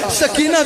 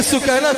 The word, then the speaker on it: سکینہ: حضرت سکینہ سلام علیہا، سکینہ کہا جاتا ہے، اصل میں نام سکینہ ہے، سکینہ اصل تلفظ سکینہ ہے، حضرت سکینہ سلام علیہا